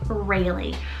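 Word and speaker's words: Raili: shoreline then we have rayleigh it's all r-a-i-l-i rayleigh i'm also really loving this spelling it's hebrew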